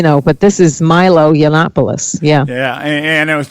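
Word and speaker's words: Yiannopoulos: in the media Milo yanan I think that's how you pronounce his name yeah it's actually yannopoulos I know it's a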